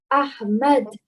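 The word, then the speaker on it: أحمد: Ahmad. Excellent. Well done. The ha, again, is from the middle of your throat.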